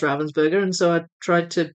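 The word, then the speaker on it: Ravensburger: I say Ravensburgger as it's pronounced in German. So, for for years, I didn't know it was pronounced Ravensburgger. And so, I would just call it Ravensburgger cuz that's how you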